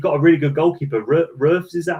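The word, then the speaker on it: Roefs: Roofs, is that how you say his name? Future star. Yeah, Roofs.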